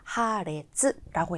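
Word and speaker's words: 破裂: 파이라고 하는음을 찾아야 되는데 파열이라고 하는 거 잘 보시면 요 한자가 들어간 표현들 대체적으로 레즈라고 읽히죠 그래서 파열 하레츠라고 해서 4번처럼 읽어 주시면 되는데요 다른 단어들도 한번 볼게요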